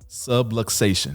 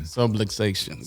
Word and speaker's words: subluxation: it means all right so the word is subluxation subluxation subluxation everybody's like supplication subway station but subluxation is a fancy term for